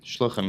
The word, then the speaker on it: shluchim: Rabbi Weberman was the first shluchim, is that how you pronounce it? Shluchim, yeah.